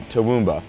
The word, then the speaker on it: Toowoomba: When you do go back home to Toowoomba, am I saying that right? Not really, no. But okay, well say it right. Toowoomba.